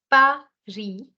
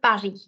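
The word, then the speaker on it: Paris: likewise this is Pari why am I not pronouncing the s in the end is because the consonant in the end is not pronounced in most cases so you're going to say Pari okay also the r sound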